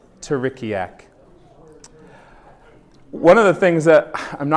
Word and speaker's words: Terikiak: Jonah came up with the name, and yes, it was inspired by teriyaki sauce. But it is pronounced Terikiak. Terikiak.